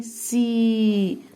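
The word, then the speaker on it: sea: واللي معي بحر يعني سي نفس الحكايه مش هنطق حرف الايه اللي جاي يساعد صاحبه المتحرك اللي قبليه اللي هو الاي الفيديو ضروري جدا ترجع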